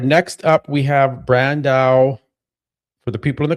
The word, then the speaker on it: Brandão: All right, next up we have Brandao. For the people in the comments keep saying Matt, it's Brandao not Dayao. Stop it.